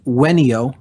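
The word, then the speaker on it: venio: from the Latin verb there's really not a V sound in classical Latin it's pronounced with a w so it's ven io is the verb and it's pronounced when EO when e o when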